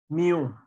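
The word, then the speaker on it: μ: كاينماتيك فيسكوستي هنا بنسميها، لو هنيجي ننطق ديت اسمها كده نيو، وهنا ديت ننطقها نيو، يعني النطق بالميم وهنا بالنون نيو، وهنا النطق ميو.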